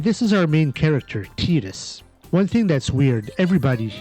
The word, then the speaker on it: Tidus: futuristic city, and this is our main character, Tidus. One thing that's weird, everybody, including myself, thought that his name was pronounced Tidus.